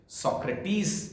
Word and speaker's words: Socrates: इसका Greek pronunciation सोक्रेटिस इसको कहते हैं, अंग्रेजी में SOCRATES लिखा जाता है। हिंदी में हम जब चर्चा करते हैं तो हम सुकरात कहते हैं।